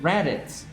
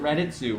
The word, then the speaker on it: Raditz: right you're not pronouncing raditz wrong if you pronounce it raditz but you're not that's just that's that's the english pronunciation right where if you happen to be japanese you're probably going to pronounce it redditsu right that's just how